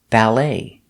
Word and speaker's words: ballet: my hands another example ballet ballet you put the stress not ballet but ballet pronounce the a sound like apple ballet you can say the